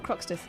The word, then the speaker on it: Croxteth: Croxteth. There was a young lady from Croxteth. There was a young lady from Croxteth. Is that what it it rhymes with Toxteth.